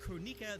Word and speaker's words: Kronika: It's pronounced Kronika.